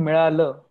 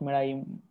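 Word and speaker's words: मिळाला: The pronunciation is milala, not milaim.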